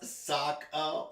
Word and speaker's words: Sokka: It's pronounced Sokka, moron.